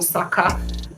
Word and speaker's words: Saka: all sorts of things Saka is Saka like huh bro it's two syllables it's not that hard get your pronunciation right